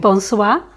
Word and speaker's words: Bonsoire: Claudia the owner of uh how do you pronounce this place's name Bonois Bonois Ah, Bonois.